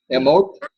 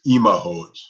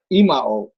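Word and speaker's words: אמהות: Emot. It's Imahot. Imaot.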